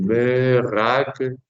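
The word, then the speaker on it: מְרַגְּלִים: Es una consonante que puede tener un dagesh de una pronunciación explosiva o un dagesh de reduplicación. Aquí pues tenemos un dagesh de reduplicación. Meragelin, meragelin, meragelin.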